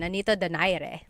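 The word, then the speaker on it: Nonito Donaire: So our first poll here is going to be Manny Pacquiao versus Nonito Daire or is in in the Tagalog uh pronunciation. Nanito Dire.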